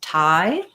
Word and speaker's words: Thai: culture thai language um it's just like the same as this word thai so it has the i diphthong like in um the word i which we write this way um so just thinking about it like i um you can it rhymes with hi um or my my